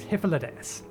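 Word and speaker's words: Hythlodaeus: remember the pronunciation because i still want to pronounce the first bit high no it's hyphalades hippolytus is looking you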